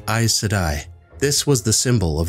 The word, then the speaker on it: Aes Sedai: one power were called eyes sedai this was the symbol of the i said i the term i said i also sometimes pronounced a cidae or a sedai means servant or servants